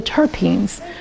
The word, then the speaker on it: terpene: volatile oils specifically the terpenes terpene what does that sound like Turpin thyme you're not drinking turpitide